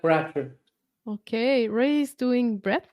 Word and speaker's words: Bratcher: How do I pronounce that, Ray? That's correct, Bratcher.